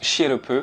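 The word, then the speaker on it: Sirop: n'est pas un hasard en japonais le nom du village se prononce chierope et housousop se pronce ousop les deux terminent par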